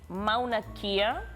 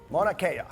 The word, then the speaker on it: Mauna Kea: It is Mauna Kea. Is it the way you pronounce it?